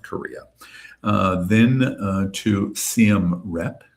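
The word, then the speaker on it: Siem Reap: Uh then uh to CMR Rep. It's pronounced CMR Rep and that's where um the archaeological site is um in Cambodia.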